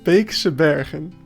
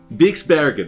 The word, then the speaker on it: Beekse Bergen: to do a tour today of Just Goran's Beekse Bergen. Did I I probably mispronounce it. How do you pronounce it? Tell me. Beekse Bergen. Beekse Bergen.